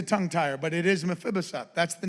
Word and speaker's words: Mephibosheth: It's a tongue tire, but it is Mephibosheth. That's the name. That's how you pronounce it. Mephibosheth.